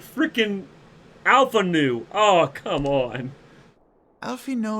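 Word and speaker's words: Alphinaud: you at your service it's Alpha new or Alpha no is it Alpha node or Alpha new he keeps every time I hear his name it sounds he's saying Alpha new or Alpha na it's Alpha na your reputation precedes you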